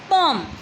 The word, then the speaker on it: poem: इसकी प्रोनाउंसिएशन रहेगी, I know सभी बच्चे पोइम ही बोलते हैं, बट we have to pronounce this word as अ पोम।